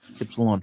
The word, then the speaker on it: Ypsilon: Epsilon or Ypsilon. Ypsilon.